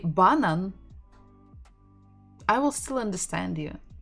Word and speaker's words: банан: B, banan, banan. We're stressing the final syllable, banan, banan.